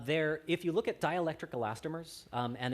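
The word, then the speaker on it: dielectric: if you look at dialectric elastomers um and it's spelled D E like D Electric elastomers um dialectric elastomers there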